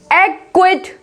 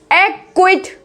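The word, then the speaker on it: acquit: अब इसमें देखो क्यू से पहले सी है, यहाँ पर किससे पहले है? क्यू से पहले सी है, तो एक्वायर, क्या बोलेंगे? एक्वायर, एक्विट, एक्विट, एक्विज, एक्विस, इस तरीके से, ठीक है।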